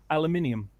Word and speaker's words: aluminium: aluminium Al Alum well the interesting thing is that aluminium is actually the official name yep the official pronunciation because you have that ending that goes along with the other element names um Platinum say